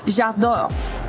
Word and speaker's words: j'adore: Well, Glitter taught me this one earlier, but j'adore EWC.